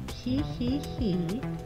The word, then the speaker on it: Ji Ji Ji: to be in Spanish so I'm pretty sure it's pronounced he he he estadio Uno de PL